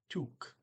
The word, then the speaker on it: tok: Oh, this is sorry, it's took. T-O-K, took. Check my pronunciation on that because I saw I said I didn't know it last time, so I looked it up. It's took, which makes sense. I mean, O is a double O sound with before one consonant, so we got T-O-K here. Took, past tense.